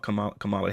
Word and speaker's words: Kamala: out you had mentioned something about Kamala Harris earlier because you went on quite a bit, and I just let you It's rock. Kamala. It's Yeah, Kamala.